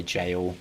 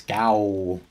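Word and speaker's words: gaol: They use that word a lot in this game, by the way, jail, but the it's spelt in the way that people think it's gal.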